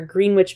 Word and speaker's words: Greenwich: where they harass tourists who ask them where Greenwich Village is it is pronounced Greenwich Village if you are not familiar